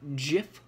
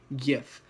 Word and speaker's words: GIF: have a seven second gif or excuse me i pronounced that wrong gif and it's going to